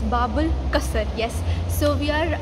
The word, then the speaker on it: Bab Al Qasr: bubble let me let me see how you pronounce it okay it's bubble custard yes so we are right now in bubble